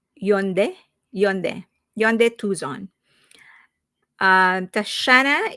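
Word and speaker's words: Hyundai: I drive a Yande. Wait, I was scolded on how I pronounce this. It should be Yund.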